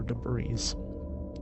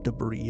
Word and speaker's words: debris: of plastic and other debris or debris that's how that's pronounced and then uh I